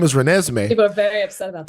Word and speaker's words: Renesmee: I'm sorry for pronouncing her name wrong, by the way, guys. Her name is Renesmee.